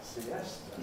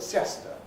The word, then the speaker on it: siesta: Siesta, siesta, siesta. We don't call it siesta. Same with fiesta and lots of other words.